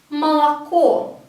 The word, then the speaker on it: молоко: But we, again, pronounce the first 2 as A, ma, la, and only the last one as ko, as O, because it has a stress on it.